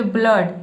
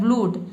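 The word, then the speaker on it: blood: देखिए यहां पे ब्लड मतलब कि डबल ओ को हम अ पढ़ रहे हैं। ठीक है? यहां पे उ अगर उ पढ़ते हो तो ये हो जाता है ब्लूड।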